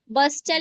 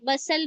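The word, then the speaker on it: bustle: कैसे जी टी is silent before L देखिए एपोसल एपोस्टल नहीं टी साइलेंट हो गया एपोसल पढ़ेंगे ब्रिस्टल नहीं ब्रिसल पढ़ेंगे बस्टल नहीं बसल पढ़ेंगे।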